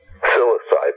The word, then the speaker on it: Psilocybe: I want to say, pronounce this right, is it psilocybe? Psilocybe, yeah.